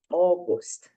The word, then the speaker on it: August: Quando nós falamos august, a gente tem aqui esse a e o u que fica parecendo a, mas não, a pronúncia é o August.